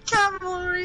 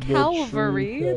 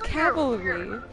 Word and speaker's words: cavalry: true Cal Cavalry Cavalry the Cavalry is here not Calvary that's not a word it's Cavalry you're not don't [